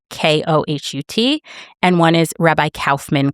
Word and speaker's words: Kohut: And those are Rabbi Alexander Kohut, and I don't know if I'm pronouncing his name wrong. It's Kohut.